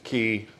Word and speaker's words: Cay: So, in the cruise industry, when they spell it C A Y, they want you to say key because that's kind of proper unless it's Royal Caribbean because Coco K, they they rhyme it, right?